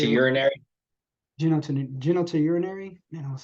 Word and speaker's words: genitourinary: Kidney, prostate, urinary bladder, or any other genitourinary. No, man, I was studying it. I'm sorry. Genotin.